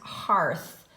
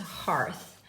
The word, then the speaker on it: hearth: went here with Hurst it's actually pronounced hearth so it's gonna go in the oddball so I'm sorry let's just cross it off of there and it's pronounced hearth and then we'll get